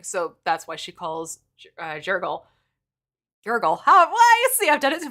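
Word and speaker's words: Jergal: She calls... Jiggle instead of Jurgle.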